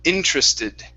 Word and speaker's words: interested: so this word is interested interested okay one more time interest so yes so with the tr what you want to pronounce is a chr sound okay so that's why